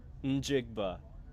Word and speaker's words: Njigba: Njigba.